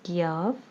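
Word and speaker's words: ق: Its pronunciation is Qaf and its sound is like the alphabet K.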